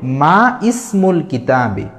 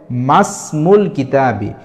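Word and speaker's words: ما اسمُ الكتابِ: উচ্চারণ এখানে উচ্চারণ হবে মাসমুল কিতাবি যদিও ইসমুনের আলিফ লেখাতে আসে কিন্তু এই ইসমুনের আলিফের আগে যদি কোন হরফ বা শব্দ থাকে তাহলে এই ইসমুনের আলিফটা লেখাতে আসবে কিন্তু উচ্চারণে আসে না এই জাতীয় আমাদের একটা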